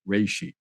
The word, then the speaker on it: reishi: of the common name which is also the Japanese name and it's actually pronounced something more like reishi Ganoderma lucidum is the